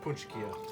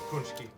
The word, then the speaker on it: Pączki: Now, a lot of people wonder why it's spelled the way it is versus the way it's pronounced. And that is because Pączki, it's P-A-C-Z-K-I, right? There's no N, there's no O's or U's. In fact, Pączki is really an Americanized way of pronouncing it.